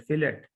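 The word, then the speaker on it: fillet: तो आई कैन से F enter, फिलेट या फिले, F T साइलेंट कर सकते हैं या फिलेट कर लें या फिले कर लें, F एंटर।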